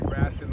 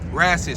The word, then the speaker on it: Raccit: Now, Raccit, spell that for the viewers. I spell R-A-C-C-I-T. Basically, all it is rabbit with the bees turn to seeds.